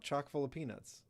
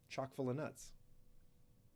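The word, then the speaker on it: Chock full o'Nuts: They bought chalk full of peanuts. It's like a game reference to to um uh Jackie Robinson's coffee brand. Chalk full of nuts. I said it wrong before. Chalk full of nuts.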